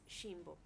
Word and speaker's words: Ximbo: Ajá, exactamente, ajá, pero bueno, pues sí, o sea, la pronunciación original, digamos, es Jimbo.